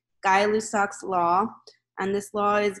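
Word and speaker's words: Gay-Lussac: this one I know it looks like it says I'm gay but it's actually pronounced guy guy lussac's law and this law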